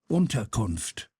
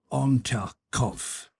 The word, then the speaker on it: Unterkunft: "Unterkunft," Pierre repeated. Ontarkov, said the captain, and looked at Pierre for some seconds with laughing eyes.